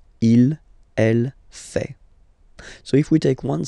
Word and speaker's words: fait: then L femina fake final T not pronounced ill elle fait so if we take